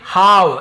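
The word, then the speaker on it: halve: यहाँ पे हाव, L silent होता है, हाव यानी आधा करना किसी चीज़ को, जैसे हाफ होता है ना वैसे ही हाव भी होता है।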